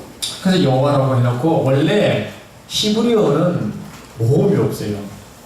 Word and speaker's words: 여호와: 그런 의미로 아도나이라고 하는데, 아도나이 보면 아오아이는 몸이 있잖아요. 이 몸을 이 YHW 요도해 와우해는 이 자음에다가 몸을 딱 붙였어. 그래서 발음한 것이 우리말은 여호와. 그 몸에 약간만 이동만 쓰면 야훼라고 합니다.